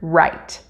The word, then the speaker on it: write: position run rain right there's a silent w at the beginning of the word write it does not change the pronunciation in any way rock race ready rabbit